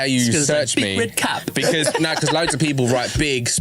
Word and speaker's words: Bigredcap: Bigredcap. Yeah, well, I just keep saying one word. One word, 3 syllables.